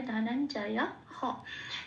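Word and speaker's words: ধনঞ্জয়ঃ: ধনঞ্জয়া হ, বিসর্গ আছে এখানে, সেই জন্য বিসর্গের জন্য হ। বিসর্গটা সবসময় হ দিয়ে রিপ্রেজেন্ট করতে হয় সংস্কৃততে।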